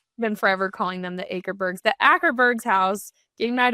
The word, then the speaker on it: Akerbergs: Been forever calling them the Akerbergs.